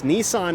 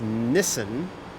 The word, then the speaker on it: Nissan: about Nissan is that Nissan is pronounced three different ways depending on where you live in the world it's Nissan in North America it's Nissen in Australia and and